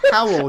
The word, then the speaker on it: Howell: It's pronounced Howell, you fucking mongoloid.